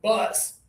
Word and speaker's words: bus: Remember though, friends around the world on social media, you got to add some pressure down here in order to make this one sound clear.